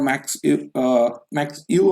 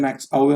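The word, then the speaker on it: Max Euwe: उसके बाद लास्कर और मैक्स यू हम लोग नॉर्मली बोलते हैं, मैक्स आवे उनका सही प्रोनाउंसिएशन है।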